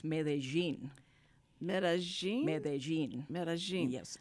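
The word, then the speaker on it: Medellín: it's mein mein mein medin there's no G or J or anything no it's an l and a double L A Double L okay and in Spanish in regular is Mexican Spanish it's medin like a like a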